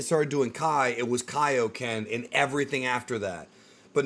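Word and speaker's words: Kaiō-ken: when they've already given the proper pronunciation for Kaio Ken because it is Kaio Ken from Kyo Sama it's weird to hear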